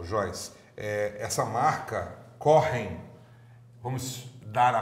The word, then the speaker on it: Kochen: aromatizados então o problema o Joyce essa marca correm vamos dar a pronúncia correta correm para isso corre significa cozinhar um amigo que